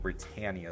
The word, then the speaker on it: Britannia: Britannia Airways, or Britannia, I think Britannia is the correct pronunciation.